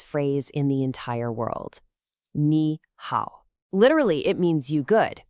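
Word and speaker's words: 你好: Ni hao. Literally, it means you good, but we all know it as hello. Just 2 simple syllables, ni and hao, both with that falling then rising tone.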